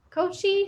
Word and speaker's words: Koci: to join us here before we have joel kochi how do you say your last name john